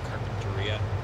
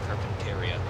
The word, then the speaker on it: Carpinteria: Like when I was in California last summer, the town is pronounced Carpinteria. UP always pronounced it Carpinteria.